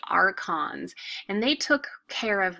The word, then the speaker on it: archons: officials that we have here this word is pronounced archons and they took care of religious events like